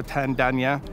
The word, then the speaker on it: Tandanya: contemporary way of of aboriginal art gal dalto tandanya is how you pronounce the name it is a ghana name